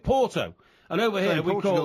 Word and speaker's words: Oporto: If you went to Portugal and said, I think I'll leave Lisbon today and go to Oporto, nobody'd know what you're talking about. Because over here we call it Porto.